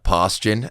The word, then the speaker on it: Paustian: find you on the internet uh socials posan not posan d n p a u s